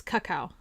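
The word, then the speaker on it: Kakao: cow cow is it's it's not cow cow it's cacao but it's okay to say cow cow uh it's a it's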